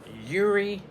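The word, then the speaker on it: Yeary: Erie Transfer Company Incorporated was on Atlantic Avenue Extension, and Erie is spelled Y-E-A-R-Y.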